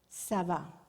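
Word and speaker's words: צָוָה: y la fuerza de pronunciación está al final. Sabá.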